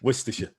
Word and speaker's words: Worcestershire: And by the way, how do you say Worcestershire sauce? What's the right way to say it? Not like that. Not like that. Almost any other way but that. Worcestershire. Yeah. Worcestershire.